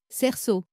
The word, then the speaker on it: cerceau: Cette combinaison magique s'utilise principalement à la fin des mots et produit toujours un O fermé.